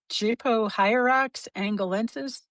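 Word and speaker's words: Gypohierax angolensis: Jupo hierox angalences is that Yep.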